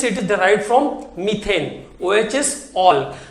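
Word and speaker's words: -ol: है इसका all suffix all ओ एल एंड इट is pronounced as ऑल तो hydroxy is द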